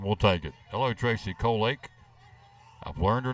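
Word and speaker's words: Colelake: I did say it right, Colake. You did. Yeah, she actually she phonetically spelled it out one night. C-O-L-E-L-A-K-E, Colake.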